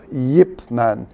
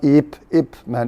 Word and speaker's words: Ip Man: When you actually pronounce, it's a Yip Man, not Ip Man. There's a y in there.